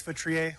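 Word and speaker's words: Feutrier: Hi, my name is Futriier. last name is spelled F as in Frank, EU, T is in Tom, R I E R.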